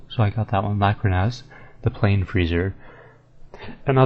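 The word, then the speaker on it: Lakhrahnaz: one of the giant eyeballs it is um laconas Lac yeah Okay cool so I got that one laconas the plain freezer and now this next one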